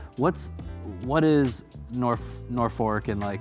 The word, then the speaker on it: Norfolk: Even though it's spelled Norfolk, pronounced Norfolk.